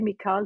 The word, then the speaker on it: Michal: Yes, and Michal is how you say it in Hebrew, and here in the US I say Michal just to make it easier for people. So either Michal or Michal, it's perfectly okay.